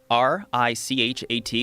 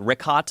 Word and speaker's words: Richat: I used to call it Ricot. I was mispronouncing it.